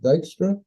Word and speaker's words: Dykstra: And am I pronouncing that right? Is it Dykstra?